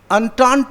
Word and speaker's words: entente: Entente is pronounced entente, whatever it is.